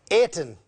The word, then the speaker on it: Ayrton: When I look at it, it's spelt Ayrton, but it's really Ayrton. Did I get that right?